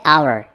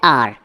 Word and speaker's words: our: हमारा, हमारा की इंग्लिश है आवर। इसको नॉर्मली लोग बोलते हैं आर, जो कि बिल्कुल गलत प्रोनाउंसिएशन है, ठीक है। आपने इसको क्या बोलना है? आवर, आवर।